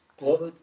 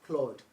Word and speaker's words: Claude: Claude, come again? Claude, CLAUDE. I think that's the correct pronunciation.